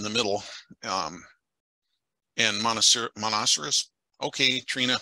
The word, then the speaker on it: Monoceros: middle um in Monastery monoceros okay Trina how do you pronounce it monocerus monocerus I was right the first time I was thinking it